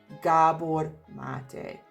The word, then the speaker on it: Gabor Maté: Finally someone pronounces it, because in reality he's Hungarian just as I am, and his perfectly pronounced name is Gabor Maté, which basically means Gabriel Matthew.